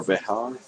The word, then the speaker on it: Bexar: Bexar is spelled Bexar. It's Bexar or Behar.